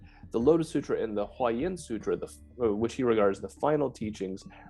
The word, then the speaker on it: Huayan: So the Chinese Huayan system, so that's how you pronounce the phrase, the Avatamsaka Sutra is a Huayan Jing in Chinese.